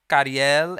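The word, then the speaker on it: Ca7riel: Next up, we have, and I should have learned how to say their names correctly, Kariel and Paco Amoroso.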